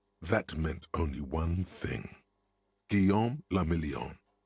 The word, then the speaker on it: Guillaume le Million: Guillaume le Million. Guillaume le Million. If it doesn't rhyme, you're not pronouncing it right. Guillaume le Million.